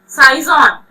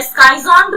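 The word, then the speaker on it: schizont: ठीक है, साइजोन्ट या स्काइजोन्ट भी बोलते हैं, कुछ लोग इसे प्रोनाउंसिएट करते हैं, साइजोन्ट और स्काइजोन्ट।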